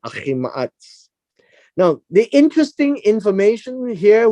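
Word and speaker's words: Ahimaaz: That's how we pronounce that, Ahi Ma'atz.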